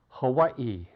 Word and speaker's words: Hawaii: IE field i i Hawaii spelled with two eyes though it only sounds like one i o action o a